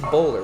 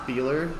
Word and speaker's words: Boehler: looking across our table here i'm seeing it's boulder right that's that's how you pronounce it how do you say it it's actually pronounced beeler beeler okay totally i should have asked you